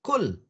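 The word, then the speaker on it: كُل: Akala yaqulu kul. Kul. Tentu pakai kaf.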